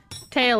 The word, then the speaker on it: Teal: Tail is how you say his name.